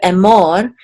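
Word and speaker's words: אֱמֹר: more and more and the accent is on the second syllable because of this um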